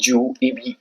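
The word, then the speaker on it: jus: कर सकते हो डिपेंड्स अपॉन यू फिर हमारा जो 15 नंबर पे है वो एक लीगल मैक्सिमम है ओबी ज रिमीडियम ठीक है इसको ज पढ़ना है जे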